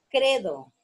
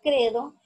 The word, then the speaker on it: credo: Luego está credo. La palabra credo es una palabra grave porque dice credo. Credo. Entonces, la sílaba tónica la tiene en la penúltima sílaba.